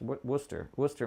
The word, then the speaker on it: Worcester: Worcester, Mass.